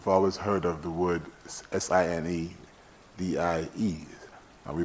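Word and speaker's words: sine die: we've also we've always heard of the word s-i-n-e-d-i-e and we pronounce it sign die i will take a page from the speaker's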